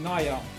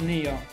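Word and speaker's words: Nya: things slightly different so i pronounce it naya not neo you're in the u.s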